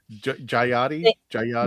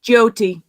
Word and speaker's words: Jyoti: Jayati? No, Jyoti. Oh, Jyoti. Jyoti. So Jyoti. That's why I want to make sure I said it right.